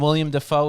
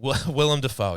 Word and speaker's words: Willem Dafoe: And then William Defoe is the other one you have. Dufour, yes, if that's how you pronounce William it. It's spelled Dafoe. that way. William Defoe. Willem Dafoe, yes.